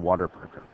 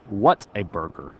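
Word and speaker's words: Whataburger: one were Chipotle and Water Burger or what a burger I'm sorry I mispronounced it no I always thought it was Water Burger so you would need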